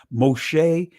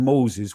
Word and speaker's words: Moshe: you guys heard it originally there was no o sound in Hebrew so Moses which is the transliterated pronunciation of the name that would not be his Moshe and Moses would not be his ancient name it would be Masha